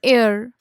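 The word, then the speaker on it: heir: ये जो सारे एग्जाम्पल्स है इसमें जो है एच साइलेंट है. एन एयर, an honour.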